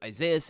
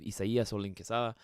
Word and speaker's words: Isaias: my real name because isaas isn't actually how you say my name at all uh if I write the whole name out it's actually uh more along the lines of isay uh but again you